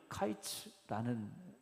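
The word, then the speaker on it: קיץ: 히브리어로 보면 여름 과일은 카이츠라는 단어로 이제 쓰여지게 되고 끝이라는 건 캐츠라는 단어로 쓰여졌어요. 그러니까이 두 소리가 발음을 어떻게 하느냐에 따라서 상당히 비슷하게 들려지는 단어입니다.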